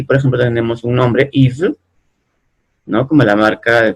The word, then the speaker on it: Yves: Entonces aquí, por ejemplo, tenemos un nombre, Yves, ¿no?